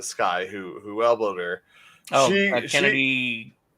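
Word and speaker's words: Chennedy: Oh, Kennedy. It's Kennedy or something. Yeah, or is it pronounced Kennedy? Yeah. Okay, it's CH.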